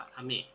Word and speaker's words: 雨: คันจิ นะ ครับ อ่า อัน นี้ อ่าน ว่า อเม ว่า ฝน เนาะ มัน ก็ เหมือน ฝน